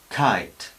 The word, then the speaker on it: kite: Aquí tenemos articulamos la boca para decir K, el sonido K, pero soltamos un poco de aire inmediatamente después. Kite, kite. No kite, sino kite, kite.